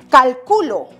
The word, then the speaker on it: calculo: Que si esta palabra lleva tilde, que esta no, si lo puse en la sílaba correspondiente, porque no es lo mismo pronunciar calculó, calculo, cálculo. Este pequeño signo gráfico, esta rayita insignificante llamado tilde, hace una gran diferencia.